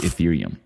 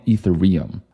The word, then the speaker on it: Ethereum: who didn't even know how to pronounce ethereum people were calling it etherum I was like bro